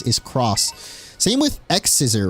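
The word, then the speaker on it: Xros: Yeah, it was it was Digimon X roast like X ROS, but they would pronounce it cross.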